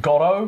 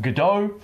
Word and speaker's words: Godot: now we're going to be pronouncing it gotto like dot gotto not gotto like godot you can pronounce it